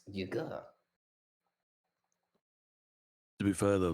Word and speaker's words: Yaga: It's pronounced Yaga, but whatever.